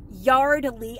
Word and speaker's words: Yardley: over i did pick up some more yardley yardley i finally said it right and it's finally